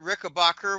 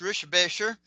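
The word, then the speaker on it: Richebächer: Um, I've actually met Kurt Rickbacher, which is actually pronounced Rishbasher.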